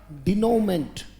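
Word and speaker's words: denouement: द ट बोलना पड़ेगा बेटा शाबाश बोले द डिनोट उच्चारण ठीक रखना पड़ेगा बेटा लिखेंगे डीई एन ओ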